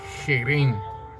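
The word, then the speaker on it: חרם: La palabra anatema en el hebreo nos dice que se pronuncia jerén, ¿sí?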